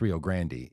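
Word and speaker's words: Rio Grande: to uh go to the Rio Grand River pronounced Rio Grandy if you're in the Rio Grandy region like Ariana Grandy yes yes and I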